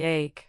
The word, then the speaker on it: ache: Pay attention to the difference between similar sounding words like ache which rhymes with cake and earachche or headache.